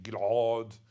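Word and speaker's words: גלעד: My name Gilad was like that pronounced in Hebrew. Nowadays everybody pronounces it Gilad. A little bit like Julia Gilad, Gilad. And some Aussies write it with an R, Gilad, as in Gilad.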